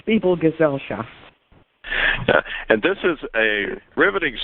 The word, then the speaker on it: Gesellschaft: welcome to correct me that is correct people gesellschaft and this is a riveting story a really